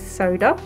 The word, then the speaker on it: Soda: This is Soda, rhymes with Yoda.